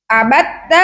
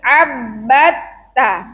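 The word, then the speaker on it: عبدت: Bacanya tadi banyak yang salah. Tasdid ada pada huruf ba dan juga ta. Bukan abatta tapi abbatta. Abbatta.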